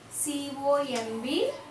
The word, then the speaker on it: comb: About pronunciation. Let us see the words on the board, children. New, K-N-E-W, new, W-H-I-S-T-L-E, whistle, C-O-M-B, comb.